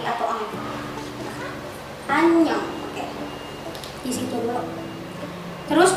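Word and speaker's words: 안녕: Misalkan kalian mau nulis anyong, itu kan ada angnya ya, karena kira tulisin aja deh. Misal oke, ini dibacanya anyong ya. Kalian bisa lihat kan, ini di sini dia itu fungsinya buat ngebantu si huruf A buat bunyi.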